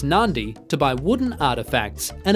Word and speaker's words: Nadi: live spend some time in nadi pronounced Nandi to buy wooden artefacts